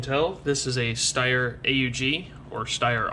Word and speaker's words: AUG: as you can tell this is a steyr AUG or Steyr aughh for some people the correct pronunciation is actually Aug but since we're here